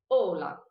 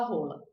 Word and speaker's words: hola: Eu vou começar fácil, então eu não vou pronunciar o H aqui. Ola. Vou falar assim, ola. Eu juro pra vocês que tem muita gente que fala rola.